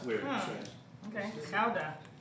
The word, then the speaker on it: Gouda: To our Dutch friends, cheese, the Gouda, it's actually pronounced Gouda. Gouda? Really? Yeah, it's weird. Huh. Strange. Okay. Gouda. Like chowder. Which is like an ill Bostonian trying to say it.